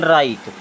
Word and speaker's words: write: अब देखिए केवल RITE को देखिए, ये लिखा है राइट, और W है यहाँ पर साइलेंट, तो इसे हम पढ़ेंगे केवल राइट।